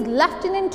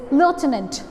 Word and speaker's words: lieutenant: People use to speak this word, he is lieutenant in army, he is lieutenant in this and that. But this word actually is lieutenant.